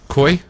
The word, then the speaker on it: Koei: Well, let's see, Koei? How is that pronounced, Ego? K-O-E-I, Koei? Isn't that Koei? Yeah, they're recognized around. Yeah, that's what I thought.